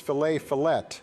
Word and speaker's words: fillet: Coming from the guy who pronounces fillet. But there's a T at the end of it. Yeah, the T is silent. It's French, you genius.